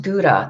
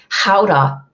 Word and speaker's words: Gouda: It's not really pronounced Gouda. That's how all we uncouth Americans pronounce it. It's Gouda. Gouda is how they say it.